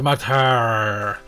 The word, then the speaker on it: Martyr: The R, it has like, if I could, I would put like a little hyphen of it. It's Martyr.